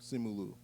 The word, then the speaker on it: Simu: Simu.